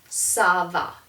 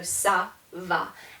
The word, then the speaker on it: ça va: But if I put a cedilla on the C, now it's going to be an S sound. And so this is pronounced ça va.